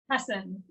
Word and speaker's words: Hasson: my guest is and how do you pronounce her last name because i don't want to say it incorrectly hassan hassan hassan and she is joining us